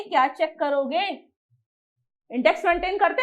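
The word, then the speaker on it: Cairo: France रोम, Norway हवाना और Egypt कैरो, जिसे कैरा पढ़ा जाता है, ओ साइलेंट होता है, कायरा।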